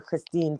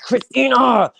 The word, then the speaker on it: Christina: name is Christina and he would call her Christine sometimes and I'm like it's Christina I get so mad I'm like it's Christina